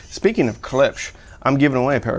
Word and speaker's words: Klipsch: on the back and i'm saying clips not clips in the comments told me i was pronouncing clips wrong speaking of klipsch i'm giving away a